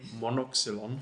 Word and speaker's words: Monoxylon: So you tell me, Max, how I pronounce it properly. Monoxylon.